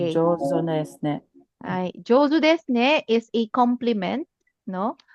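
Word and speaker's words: 上手ですね: Josne.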